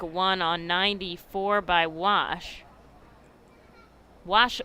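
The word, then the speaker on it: Guasch: on 94 by wash wash spelled g-u-a-s-c-h a silent g here's the 2-1 in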